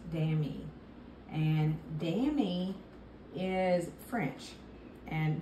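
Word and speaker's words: Dameé: this jacket is called it's spelled d-a-m-e-e Inc is the brand and it's pronounced damn e and Danny is French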